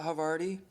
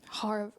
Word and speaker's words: Havarti: Yeah, Havarti. Harvarti.